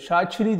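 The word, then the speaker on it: Shaqiri: E İsviçreli futbolcu Şakiri Şakiri nasıl gerçek şa çiri diye okunuyor orada q ç diye okunuyor şiri ç ile mesela o Artık bizde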